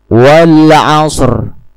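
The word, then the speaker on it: العصر: Bukan dengan mengeraskan, sekali lagi bukan dengan mengeraskan bunyi ro, asr. Berbeda dengan shr karena sebelum sukun ro terdapat huruf qalqalah. Pelafalan sukun ro lebih jelas daripada kata al-asr.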